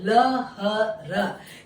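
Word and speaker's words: लहर: இதே போல ல ஹ ர இது நடுவுல தான் இருக்குது ஹ, அது எப்படி ப்ரொனவுன்ஸ் பண்ணுவோம், ல ஹ ரக்கு லெஹர் அப்படின்னு ப்ரொனவுன்ஸ் பண்ணுவோம்.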